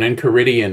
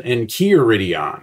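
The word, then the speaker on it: Encheiridion: someone might pronounce it Enchiridion or something like that. But in Greek, the EI is an eh sound, so I don't know.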